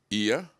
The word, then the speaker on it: Iya: Iya, am I pronouncing it correct? Perfectly correct.